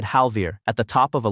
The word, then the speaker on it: Halvir: breath and she said Halvir at the top of a list of 31 in front of the entire year. She put the stress on the second half. It goes on the first.